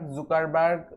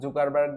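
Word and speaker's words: Zuckerberg: So Facebook তৈরি করেছে mark জুকারবার্গ, যাই বলেন, স্থান কাল ভেদে এর উচ্চারণটা বিভিন্ন সময় বিভিন্ন রকম করা হয়ে থাকে। বিভিন্ন জায়গায় কেউ জুকারবার্গ বলে, কেউ জাকারবার্গ, বাট আপনাদের যেটা ইচ্ছা সেটাই বলতে পারেন।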